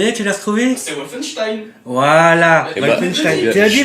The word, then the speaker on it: Wolfenstein: C'est Wolfenstein. Voilà. Wolfenstein. Tu l'as dit Wolfenstein? Il l'a dit. Tu vois, voilà. C'est parce que tu l'as mal prononcé, c'est pas. Voilà, t'as pas dit l'accent allemand, c'est important.